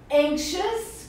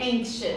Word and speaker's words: anxious: E anxious? Que é ansioso. Anxious. Atenção para a pronúncia, gente.